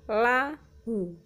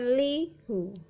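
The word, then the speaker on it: لَهُ: Contoh lahu ma fis samawati wa ma fil ardi ya, dibaca lahu bukan lihu.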